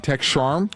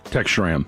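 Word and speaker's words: Schramm: the uh tech I'm going to say his name wrong tech sharm tech shra tech shra my bad uh push for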